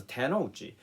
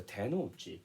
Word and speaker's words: tenouchi: So today, I will explain the correct meaning of the tenouchi.